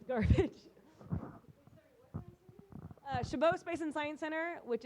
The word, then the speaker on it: Chabot: Chabot Space and Science Center, which is in the Oakland Hills, if you guys have never been there. I can. It is spelled like Chabot, Chabot.